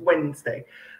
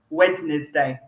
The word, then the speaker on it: Wednesday: wrong doesn't it yeah it's wednesday so that's a good example of a word you need to see the phonetic script in order to know how it's pronounced when you look at it okay because if you just look at the letters you're going to say wednesday just a bit weird